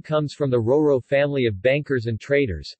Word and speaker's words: Roero: RORO Italian pronunciation ro ro P Monte's ro a re